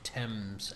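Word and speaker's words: Thames: I hate by the way that it's pronounced temps and not ths.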